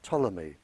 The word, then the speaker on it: Ptolemy: by the name of Ptolemy spelled with a P he very famous scientist